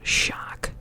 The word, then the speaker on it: Sjaak: But yeah, it's just a name, and that is how you pronounce the SJ, so Sjaak, Sja.